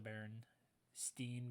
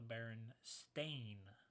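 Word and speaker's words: Berenstain: oh yes of course people believe it's the baron steam bears but it's actually pronounced the baron stain Bears is it the other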